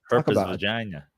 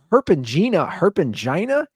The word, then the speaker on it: herpangina: Herpes vagina. Yeah, talk about a terrible name. It's related to hand, foot, and mouth. She has a thing that the doctor printed up and gave me. It's herpangina.